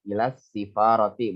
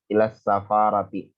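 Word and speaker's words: إلى السفارة: Ini dibacanya kasrah, ilas sifarati, bukan ilas safarati. Ya, bukan ilas safarati, tapi ilas sifarati.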